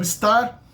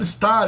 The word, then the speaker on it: estar: The verb estar is usually, in colloquial speech, it's usually pronounced without the first syllable, with the S in the end. This S is usually dropped, and only the tar is pronounced.